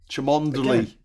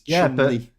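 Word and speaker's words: Cholmondeley: Chumley. Chumondley is Chumley.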